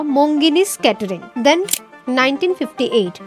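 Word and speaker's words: Monginis: ही था कोलकाता में मुंगिनिस की पहली store. But the name मुंगिनिस changed. In Bengali pronunciation it's मोनजीनिश something from hard.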